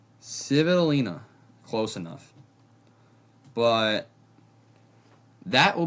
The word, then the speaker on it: Svitolina: And then Svitolina, who I back against a lot of players,